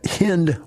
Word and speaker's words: Hind: for us today uh the lady's name is hind washington and she's out of houston she is